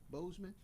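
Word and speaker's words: Boseman: how do you say his name uh bossman bozeman yeah uh so they're they're renaming their fine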